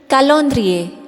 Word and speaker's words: calendrier: Next is calendrier, which means calendar.